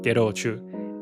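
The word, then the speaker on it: ゲロ: And in the chorus, when she sings Getu, Anojan actually pronounces it ghetto. And ghetto means vomit. So even more literal, Anojan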